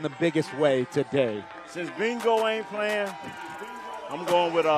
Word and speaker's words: Mingo: You say B-I-N-G-O. I said it's like that. Okay. It rhymes with that.